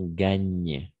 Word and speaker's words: gagnent: En effet, gagnent parce que ENT. On ne prononce jamais gagner.